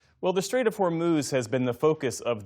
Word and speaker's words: Hormuz: By the way, that's the correct pronunciation. It's Hormuz, not Hormuz.